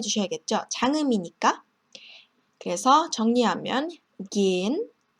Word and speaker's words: gehen: 예를 들어서 gehen, 가다라는 뜻의 이 동사는 gehen이라고 발음하는 게 아니라 gehen 이렇게 발음되고요. sehen 이것도 마찬가지로 sehen 이렇게 소리내지 않고 sehen이라고 발음합니다. nehmen의 경우 네 부분을 길게 발음해 주셔야겠죠. 장음이니까. 그래서 정리하면 gehen, sehen, nehmen 이렇게 됩니다.